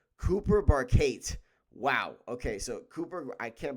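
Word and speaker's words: Barkate: two, because they got their wide receiver, Cooper Barcade. I don't know how to pronounce his name.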